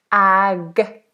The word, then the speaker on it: agnostic: And the pronunciation, I'm not going to worry about this word because we don't use this word very often, but this pronunciation is agnostic.